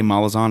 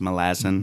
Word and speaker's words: Malazan: I say Malazan because I'm from Tennessee. It's actually pronounced Malazan.